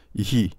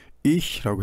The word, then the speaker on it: ich: 그래서 나는 ihi 이렇게 한다. 이렇게 생각하시는 분들은 이제 어렵다고 하더라도 그것을 사실은 옳지 않은 발음이고 ihi라고 하는 건 옳지 않은 발음이고 ich라고 해야 된다 라는 사실을 알고 계시기만